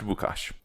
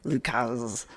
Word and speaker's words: Łukasz: But I think that would be pronounced Łukasz. All Right right. I'm glad that you knew that because I did not. I was gonna say either like Lucas.